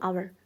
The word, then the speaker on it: hour: A a hour 쓰면 안 되고 on hour. 그래서 on hour 얘만 좀 잘 기억을 해 주시면 좋을 거 같아. on hour. 어 시간을 쓸 때는 이제음을 쓴다. 발음이 H가 발음이 안 나요.